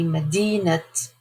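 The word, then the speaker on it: مدينة: say Medinat Boulder, then the ta marbuta is pronounced. When we say Medinat Boulder, when it is part of a structure that means of, possessive, then you have to pronounce the ta marbuta.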